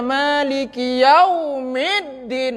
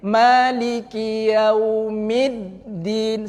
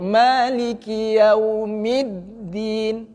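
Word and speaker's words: مَالِكِ يَوْمِ الدِّينِ: Yau itu kan waw sukun itu. Tidak usah ditekan-tekan, biasa aja. Madlin itu. Maliki Yau. Datar aja suaranya. Maliki Yau. Begitu. Mid di situ baru ditekankan karena dalnya bertasdid. Maliki Yaumiddin.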